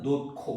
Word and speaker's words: 놓고: 지금 37번에 거기 보면은 히뒤에 기억 디귿 지극이 결합 하면 키 티 치으으로 바니다. 그래서 1번 선지 보면 노코 노 보지만 발음은 노코 왜 히웃에 뒤에 이어지는 말이 기억으로 시작되냐 그지?